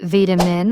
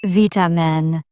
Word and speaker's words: vitamin: You sometimes pronounce vitamin with a long I, but in British English it's vitamin. Shortening the vowel makes the word sharper, almost clipped in tone.